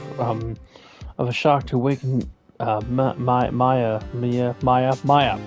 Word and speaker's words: Maya: It appears it was strong enough of a shock to awaken Maya. It's Maya. Her name is Maya. Okay, Mia is the dead woman. Maya is her living sister.